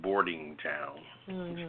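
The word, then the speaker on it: Bordentown: I'm very familiar with boarding Town pronounce barding like boarding boarding house boarding boarding town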